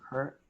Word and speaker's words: her: for what we used her for she remember we pronounce it her if we say hair hair is your hair okay in your head but we say her her okay sometimes we